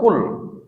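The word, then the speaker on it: قل: Itu bacanya tetap kul.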